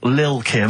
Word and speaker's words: Lil Kim: I'm pronouncing that correctly, Lil Kim. Oh, no T's involved.